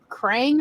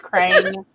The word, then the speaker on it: Krang: I mean, you can call me on my stuff, but I'm just saying I thought it was Krang. Okay. I mean, honestly, it rhymes with Strange, so close enough.